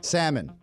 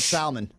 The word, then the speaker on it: salmon: used to call it Salman okay donkey nokton PZ we all say salmon Sam yeah but I used to call it Salman I used so 19% of people pronounce the L that's in there PE c am a